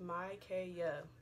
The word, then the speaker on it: Mykaya: My name is, by the way, my name is pronounced Mykaya. Okay? Playa? It rhymes. Kaya rhymes with Playa.